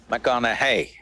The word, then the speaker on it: McConaughey: the second name uh mcconnell hey rhymes with what would madonna say so so i know you're matthew mcconaughey but do i know